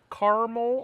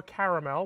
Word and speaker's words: caramel: And then we're gonna add some little bit of caramel or caramel, whichever part of the country you come from. I don't care how you say it, as long as you say it.